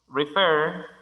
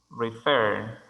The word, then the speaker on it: refer: Refer también tiene énfasis de sonido en la segunda sílaba, al final. Refer.